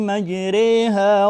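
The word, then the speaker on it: مجراها: Wa qala rkabu fiha bismillahi majriha wa mursaha inna rabbi laghafurur rahim. Lafadznya tertulis di situ majraha, namun dibaca oleh Imam Hafs daripada Imam Asim dibaca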